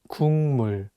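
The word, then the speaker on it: 국물: Korean word for soup the consonant Keo is for G sound in English so you can read it as cook but is paired with the natural sound meme so it changes the problem station from a G sound to an NG sound and you need to read it as Kumu so remember that if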